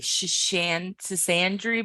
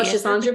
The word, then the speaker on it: Schisandra: Sisandry berries. Oh, Schisandra berries?